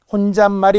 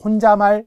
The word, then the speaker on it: 혼잣말: 있어요 케베 상역 시험에 발음의 변화가 생겨야지 혼자말 이상하죠 혼자말 혼잣말 어 발음의 모가 변화가 생겼네 그리 혼자 고유어 말 고유 고유 고유의 발음에 니은 변화가 생겼으니 사이시옷이 들어가겠구나 이렇게 알아야 된다는 거죠